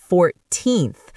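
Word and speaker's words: fourteen: 14th the stress is on the second syllable but 40th the stress is on the first syllable.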